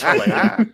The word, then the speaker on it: Helena: It's Helena. Yeah. And if anybody knows about name pronunciation, It's me.